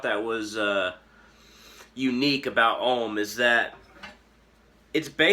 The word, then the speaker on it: Om: it looks like and the number 30 uh in a numerical system but really it's a universal vibration um om is usually pronounced a-u-m like oh and it's drawn